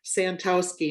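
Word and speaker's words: Santowski: And the way that I'm presenting is Santoski. And I will spell both. is spelled.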